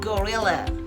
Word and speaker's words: gorilla: Y en inglés se escribe casi igual que en castellano, pero la pronunciación también cambia. A ver si lo adivináis. ¿Cómo se pronunciará gorila en inglés? It's a gorilla.